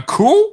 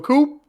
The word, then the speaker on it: coup: samia a rebellion a coup do we want to do that no all right all right cool listen can we not say that you're not supposed to pronounce the p don't ever do that